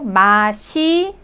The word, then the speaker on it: 맛있어요: You could see the first syllable, 맛. Well, that S sound goes to the next syllable, it. Because it, just the first syllable looking like, circle, that doesn't sound anything. So, that the bottom consonant S goes to the next one. So, 맛있어요.